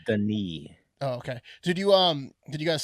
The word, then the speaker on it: Denis: Like Dennis Villeneuve made that, like Blade Runner 2099 or whatever it's called. I think it's pronounced Denis.